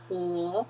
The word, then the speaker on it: 和: 调 the tones go up 和 You don't pronounce he, okay? Even though it's the same as the English he. You say 和 that means and.